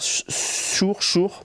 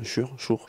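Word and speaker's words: Suhr: Elle a la meilleure perf de l'année, c'est Jennifer Schur, bon S-U-H-R, je sais pas comment vous dites, mais les Américains je pense que le U ça se prononce Schur.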